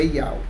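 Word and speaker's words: יהוה: A sua transliteração é YHWH e a sua pronúncia no mundo inteiro é Yau.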